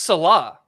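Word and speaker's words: Saleh: It's pronounced Salah.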